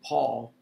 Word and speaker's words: Paule: She was born Valenza Pauline Burke, but at age 12 she changes her name to Paul with a silent E at the end because she was enamored by the African-American poet Paul Laurence Dunbar.